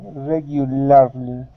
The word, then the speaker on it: regularly: end of the word, we aren't going to pronounce that LAR, okay? We want to pronounce an ER sound, regularly. Okay, regularly. Okay, good. And our stress is at the very beginning of the word, regularly.